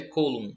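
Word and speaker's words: Coulomb: Alguns chamam de força de colum, mas como nós estamos falando de um francês, a pronúncia correta é colum.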